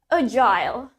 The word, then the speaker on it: agile: Well, in British, di British kita mengucapkannya sebagai agile.